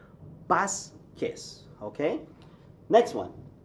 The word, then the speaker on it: Vasquez: yeah okay always okay the V as I've already said gives you a B sound okay for example my